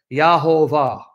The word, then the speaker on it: Yahweh: tradition of the rabbis they pronounced the name as yahuveh not as Yahweh but as yahuveh and because of that